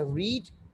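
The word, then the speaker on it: read: जब आप first form के तौर पे यूज़ करेंगे तो आप इसको रीड प्रोनाउंस करेंगे. जब कोई सेकंड वर्ब के तौर पे यूज़ करेंगे, या सेकंड फॉर्म के तौर पे, या थर्ड फॉर्म के तौर पे, you have to pronounce like रेड.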